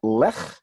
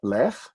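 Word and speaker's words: לֵךְ: Again, it's not Lech, like Lech Walesa from Poland. Oh my, I'm really dating myself. Anyway, his name was Wech, and not Lech, but Lech.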